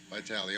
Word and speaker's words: Vitale: Okay, is it Vitale? Did I pronounce it right, Professor? Vitale, okay. I kind of, all right, brief as possible.